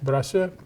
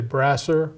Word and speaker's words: Brassieur: Okay, my name is Brassieur, is how we pronounce it in French, Brassieur. And you might say Brassieur, or you could say it in many different ways.